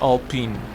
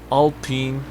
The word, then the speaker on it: Alpine: mercedes amg genera g55 alpine or i think it's pronounced all pin all pin a110 we're also getting